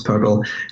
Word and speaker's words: PRPL: I should have mentioned it's actually prpl and just pronounce parallel and we do have